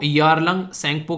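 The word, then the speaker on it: Tsangpo: रही है ब्रह्मपुत्र को yarnpo के नाम से भी यहां पर जाना जाता है टी साइलेंट है सेकंड को बोलते हैं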